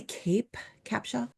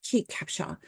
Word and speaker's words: Kate Capshaw: his wife cap Capa I can never say her name right Kate Capa I was want to say cape Capa anyways Kate Capshaw when they first heard